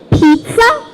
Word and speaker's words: pizza: sound we need to when we see two Z's together a lot of us might think the pronunciation is just the but in fact in a lot of different sounds it's uh it's so we have examples like pizza inter mezzo and mozzarella what do you notice when you pronounce these words you have this it's sound that's your clue to know